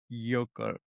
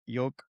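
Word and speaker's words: Gyökeres: Victor Yocare Yocare Yocare.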